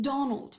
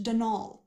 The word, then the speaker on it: Donal: caretaker denial delaney not donald mind you there's no d at the end so it's pronounced denal that's the way you're